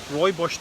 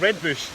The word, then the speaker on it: rooibos: Also, rooibos tea. Did you say bush? Well, actually, it's actually spelt red bush.